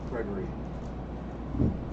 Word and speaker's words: Gregory: I've heard people say it with 4 syllables. How do you want it pronounced? Gregory.